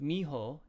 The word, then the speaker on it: mijo: to remind you mijo in spanish a j sound is like an h so it's pronounced miho and that's like sun